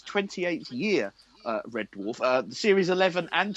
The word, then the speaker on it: Red Dwarf: what's it called red DF no you don't pronounce the W it's Dwarf Red Red Door he's still not got it he's still not